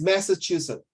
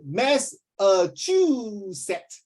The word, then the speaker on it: Massachusetts: oh okay ready is Massachusetts correct you know one of the students please don't drink water Your Lover Please I got one student pronounce this mess a true set message two sets Massachusetts the University of Massachusetts